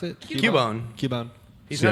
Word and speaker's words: Cubone: Cubone guy. How do you pronounce it? Cubone.